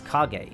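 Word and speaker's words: Kage: a k like combat if you change the spelling of cage to have a k it becomes kagay instead which means Shadow a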